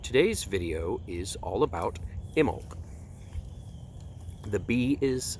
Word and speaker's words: Imbolc: been up but today's video is all about Himmel the bee is silent IM bol see the bee is silent